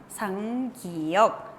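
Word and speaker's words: 쌍기역: 상기억. El nombre de esta consonante entonces es 상기억. Doble 기억. ¿Y cuál era el sonido de la 상기억? ¿Cuál era? Era ka, que, ki, ko. Así tenemos que pronunciar.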